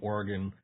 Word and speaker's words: Oregon: I've had the people from Oregon say, no, you can't say Oregon. It's pronounced Oregon. Like Oregon? Like a human organ? Like, yeah, exactly.